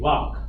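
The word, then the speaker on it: vāk: Vak. V-A, capital A-K, Vak.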